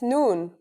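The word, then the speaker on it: نون: al if now we will learn the final letter needed to write the word I in Arabic that's noon the noon is pronounced just like the English N pretty easy right it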